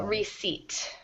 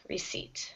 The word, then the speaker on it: receipt: that yep you said it well the p is silent so receipt receipt receipt y thank yeah you'll notice if you